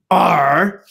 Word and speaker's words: ARRR: pirate chain is a triple r pronounced r so the the anonymity